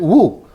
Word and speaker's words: Ng: in college yeah and he spelled his name NG well he pronounced it woo and later on I